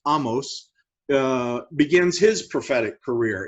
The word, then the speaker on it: Amos: uh in 768 uh the prophet amos technically pronounced amos uh begins his prophetic career in the uh